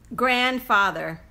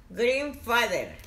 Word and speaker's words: grandfather: Grandfather. Green father.